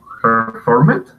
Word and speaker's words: performed: Okay, now the pronunciation there, you do not want to emphasize pronouncing the ed at the end. You want to make that into a T sound a little bit.